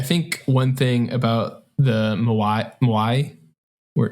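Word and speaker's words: 模合: I think one thing about the Moai, we're not going to say it right. Moai. Say it with the Japanese accent.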